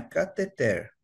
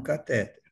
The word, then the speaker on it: cateter: de de de se falar é cateter e não catéter Então seria transcateter né ou cateter por quê essa palavra ela se origina do grego e lá no grego ela tem acento na última sílaba veja aqui k a t h e t e r com acento na última sílaba desse modo cateter é uma palavra ox e o significado é